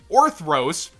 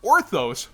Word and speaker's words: Orthros: Scrap Orthros, which I've been saying is Scrap Orthos forever. You know, sometimes you learn you've been saying a card's name wrong for like 10 years.